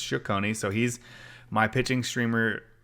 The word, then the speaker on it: Cecconi: I pronounced it wrong. I think I said Cecconi on the on the last episode, but it's Cecconi.